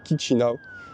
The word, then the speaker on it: Chișinău: En fait, je sais jamais trop comment prononcer. C'est kizina chi ou kicchina. Et la réceptionniste de l'hôtel m'a dit Kinao. Donc je vais essayer de me faire à l'habitude de prononcer comme ça.